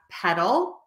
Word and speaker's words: petal: word number one pedal a petal can also be a flower the colorful part of the flower and it is spelled differently but this is a homophone and The Petal again is the colorful